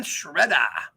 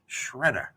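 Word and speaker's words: Sciaretta: that Tom bogert posted Tom celic Boger Brian Shredder yes that is how you pronounce his name that's how he told us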